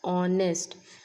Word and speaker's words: honest: H is silent. We are reading it as honest.